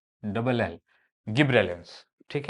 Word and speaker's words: gibberellin: double B double L गिब्रेलिंस ठीक है some people call it जिब्रेल ठीक है या फिर गिबलर एसेट भी बोलते हैं